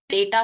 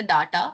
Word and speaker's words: data: डेटा को डेटा, not even the डाटा, इट्स डेटा।